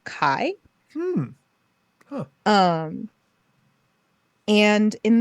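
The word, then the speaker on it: Kay: and his name is it's spelled k-a-y as in K but I've always heard it pronounced Kai hmm huh um and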